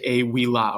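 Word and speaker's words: ā vīllā: out of the house you'd say a wee la with a long a right ablative case on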